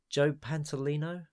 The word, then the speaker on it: Joe Pantoliano: that I never get I think you've you've pronounced a better than IRS joe pantoliano yeah I don't know yeah a frequent wachowski